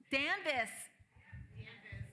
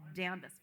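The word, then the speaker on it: Danvers: can say hayil yeah danis it's for D it's danis forever for me even though there is an r in it it's damis no but thank you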